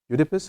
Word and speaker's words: Oedipus: Oedipus, how do you say that?